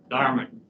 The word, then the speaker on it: Dartmouth: Dartmouth. Okay. I want to say mouth, but it's not, right?